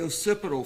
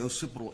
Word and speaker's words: occipital: The occipital fracture, am I pronouncing that correctly?